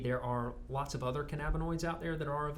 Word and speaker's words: cannabinoid: lot of the other, how do you pronounce it? Cannabinoid. Cannabinoids.